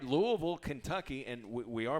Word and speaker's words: Louisville: doesn't work yeah no sir yeah all right Louisville Kentucky and we are pronouncing it right it's Louisville yes Louisville yes